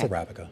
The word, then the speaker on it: Arabica: Yeah, it's Arabica.